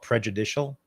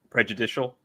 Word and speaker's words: prejudicial: That would be in court that would be called prejuditial. Prejudicial. Prejudicial. I see an S. I pronounce it.